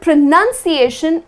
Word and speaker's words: pronunciation: with the N oun however the word pronunciation is spelled with nu n and not an o UN and the correct way to pronounce it is pronunciation just the way it is felt not pronounced but pronunciation got it next one